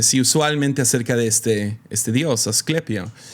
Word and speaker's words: Asclepio: Google me ayudó a pronunciar esto. Asclepio. Asclepio es Asclepio.